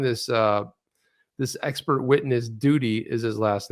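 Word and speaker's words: Doody: just so you know it's spelled d-o-o-d-y duty but it sounds like duty you guys don't know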